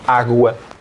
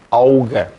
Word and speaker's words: água: quando eu era miúdo nós não dizíamos água pronunciava auga ninguém dizia água toda a gente dizia aa voou a auga hoje